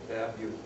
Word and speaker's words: Babeu: But it's pronounced Bab, B-A-B, and then Y-O-U, Babeu, right?